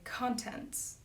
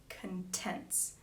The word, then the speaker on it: contents: So I would say contents, the contents of these sonnets. But to fit the line, but you shall shine more bright in these contents.